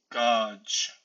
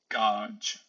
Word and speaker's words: gaug: Now, for the G, in the final position, it is usually ch, ch. So, gauge, gauge.